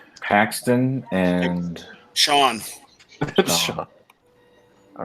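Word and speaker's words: Siobhan: Sean. All right. It's spelled, medieval.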